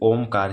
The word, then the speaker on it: ओम: ओम का क्या है, ये ओ नहीं है, ओम है।